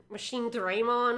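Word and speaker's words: Machinedramon: They pronounce him really weirdly. I'm not gonna call him Machine Draymon, I think they go with. I'm not gonna be saying that. That's Machine Draymon.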